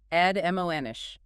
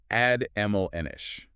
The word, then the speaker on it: admonish: Adoish. Three syllables stress on the second. Admish.